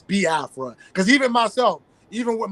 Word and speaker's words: Biafra: how to pronounce it some people say B Afra because they don't really you know overand the you know the pronunciation when it comes to the i e sounds but it's B Afra because even myself even